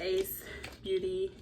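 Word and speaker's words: Ace Beauté: So what I do want to say is I use the Ace Beauty, that's how you pronounce it, Scarlet Dusk palette.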